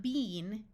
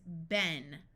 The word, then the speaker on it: been: short e sound so this word is not Bean in American English it's Ben like I had been swimming when a storm began